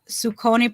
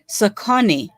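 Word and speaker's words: Saucony: Okay, Tony Man says Sukoni pronounced Sakoni. It's pronounced Sakoni.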